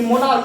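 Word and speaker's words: monarch: जैसे देखिए इसमें एग्जांपल कि मोनार्क, जैसे एक मोनार्क जो हो गया वो यहाँ देखिए सी एच से चौ नहीं उच्चारण होकर क होता है, इसलिए जब उसमें क्या करेंगे सिर्फ एस जोड़ देंगे।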